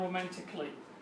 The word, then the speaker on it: romantically: A will be silent and it will not be pronounced. Artistically وليس artistically, and the same logically وليس logically. And so as we said, artistically, logically, musically and romantically وليس musically or logically.